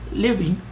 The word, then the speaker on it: living: It is spelled L-I-V-I-N-G, just like the word living, but it is pronounced living.